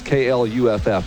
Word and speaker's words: Clough: The guy just texted me and told me it's KLUFF. That's phonetically how you say it.